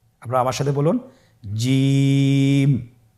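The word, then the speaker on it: ج: আপনারা আমার সাথে বলুন জিম। হা খ জিম হরফটি বারিক হরফ এটা উচ্চারণ করতে হবে তিন আলিফ টেনে দেখুন আমি কিভাবে উচ্চারণ করছি আপনারা আমার সাথে করুন জিম মাশআাল্লাহ আবার বলুন জিম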